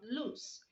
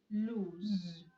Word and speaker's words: lose: like don't lose hat so you don't say don't lose hat it does not loose it is lose so lose and lose are not homophones the other word we're going